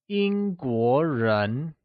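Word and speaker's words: 英国人: English people translates to Yīngguórén where,Yīngguó is pronounced with a high level tone on the i and a mid rising tone on the o, like Yīngguó Lets hear you say Yīngguórén Good!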